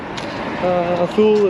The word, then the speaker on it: Thule: Thule is pronounced Thule, Thule, Thule, Thule, truly.